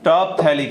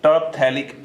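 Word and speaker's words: Terephthalic: फिर इसका नेम आएगा टर्पथैलिक एसिड, टर्पथैलिक एसिड। पी को थोड़ा साइलेंट जैसा ही देखना है यहां पर, टर्पथैलिक एसिड।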